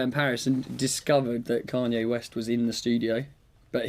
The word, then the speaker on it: Kanye: Kanye West. Apparently that's how you're supposed to say it.